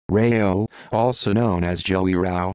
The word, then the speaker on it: Rao: Joseph Toph Joey Rao, pronounced Rao, also known as Joey